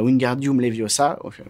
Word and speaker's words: Wingardium Leviosa: le dire comme ça il faut dire Wingardium Leviosa ok d'accord on va